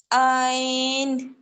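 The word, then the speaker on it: عين: আইন আইন আই আইন আপু গলার আইন মাঝখানে গলার মাঝখান বরাবর মানে যেই জায়গা থেকে হা উচ্চারণ হয় ঠিক ওই জায়গা থেকেই আইন উচ্চারণ হয় হা আইন দুইটাই গলায় প্রেসার করে আইন আইন আইন তারপরে হামজা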